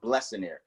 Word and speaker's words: Blessionaire: I hear Blessionaire, but it's actually pronounced Blessionaire, which means blessed millionaire.